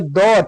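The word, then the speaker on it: the: इस तरह से बाबेल साउंडेड वर्ड के आगे द टी एच ई लगाने पर दी होता है, दी पढ़ेंगे उसको।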